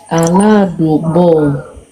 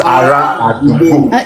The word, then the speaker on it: ará àdúgbò: through some other books, some words are spelled with a L, but you're saying them with a R. No, I have seen that as well. The most commonly used one is with an R, ará àdúgbò.